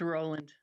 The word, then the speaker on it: Rowland: Is it Rowland or Roland? It's Roland.